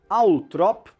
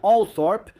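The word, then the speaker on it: Althorp: A pronúncia Atrop é a preferida da família Spencer, embora All Thorp seja uma alternativa mais comum.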